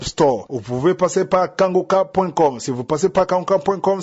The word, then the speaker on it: Kanguka: Mais pour l'émission Kangoka sur YouTube, vous les trouverez sur la chaîne Kangoka français. Kangoka ça s'écrit K A N G U K A.